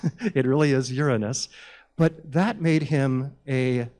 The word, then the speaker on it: Uranus: I believe he discovered the planet Uranus not pronounced alas Uranus it really is Uranus but that made him a living and in